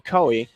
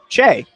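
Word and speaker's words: Choe: That'll be number five for them, Morgan Coey. or Chuer actually is the CH. Chay is the pronunciation in the pronunciation guide. Ch H O E Chay on second base there.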